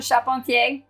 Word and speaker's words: Charpentier: to like And subscribe my name is chapon um most people cannot pronounce my last name I always spell it